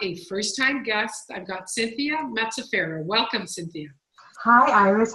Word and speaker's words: Cynthia Mazzaferro: So Cynthia Mazzaferro, did I pronounce that right?